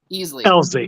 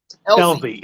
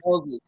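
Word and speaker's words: Elsey: Easley. Yeah. Elzy. E-L-S-E-Y. Pronounced like a Z. Sorry, Elzy.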